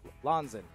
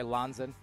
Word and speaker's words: Lanzin: Oh, Lanzin, right? People are never going to believe me. That's how it's actually pronounced, but...